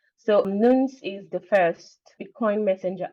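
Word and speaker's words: Noones: I'm currently with no one's nuns and it is spelled n o o n s so nuns is the first Bitcoin messenger app and a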